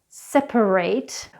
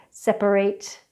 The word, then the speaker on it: separate: of woman now let's take the suffix ATE which is actually pronounced different for adjectives and verbs. So take for example separate. As you can hear it's it's an AHT sound however the verb separate we use an 'eight' sound so as you can see the pronunciation is quite different at separate if it's an adjective separate if it's a verb just to confuse you even more.